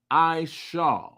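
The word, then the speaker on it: עשו: In the Paleo Hebrew, it is pronounced Isha, meaning wasted away is he.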